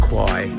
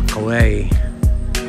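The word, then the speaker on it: Khwae: It's not actually pronounced Kwae in Thai, it's the River Kwae.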